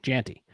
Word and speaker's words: Jeanty: Jeanty.